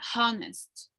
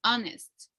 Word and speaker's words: honest: vowel consonant sounds sorry we are not pronouncing the age no it's not honest it's honest directed to the vowel so all right is